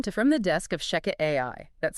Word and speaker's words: ShechetAI: Welcome to From the Desk of Sheket AI. That's spelled S H E C H E T A I.